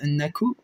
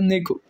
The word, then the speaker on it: Neko: Juste avant de nous quitter, je vais demander c'est quoi Nako comme race, parce que ça me perturbe énormément là. Moi qui connais pas race. Comment s'écrit Neko, pardon, pas Nako, Neko.